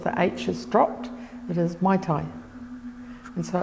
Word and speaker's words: Maitai: The spelling is the same, Maitai, but as I said, over time it's devolved, you know, take out the H, it's become Maitai.